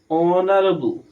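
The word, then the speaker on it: honorable: এই এই consonant consonant ঠিক আছে কিন্তু এর উচ্চারণ হয়েছে অনারেবল তার জন্য এখানে কি বসবে অনারেবল পারসন অনেস্ট এইচ দিয়ে শুরু হয়েছে কনসোনেন্ট কনসোনেন্ট কিন্তু উচ্চারণ হয়েছে অ এর উচ্চারণ অ হয়েছে।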